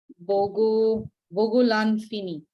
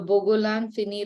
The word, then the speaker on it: Bogolan Fini: So in the case of mudcloth, this is, its other name for mudcloth is Bogolan Fini. It's spelled B-O-G-O, Bogo, Lan, L-A-N, Fini is F-I-N-I.